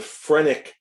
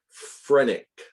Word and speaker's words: phrenic: see it now the phrenic nerve phrenic spelled with a ph a ph renic the phrenic nerve this